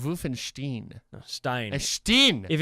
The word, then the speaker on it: Wolfenstein: Whichever one comes second, that's the one you pronounce.